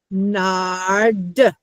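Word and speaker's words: נרד: You're going to go back to your word and say, "Okay, hm, Madison said if there's two shabbas at the end of the word, they're both silent."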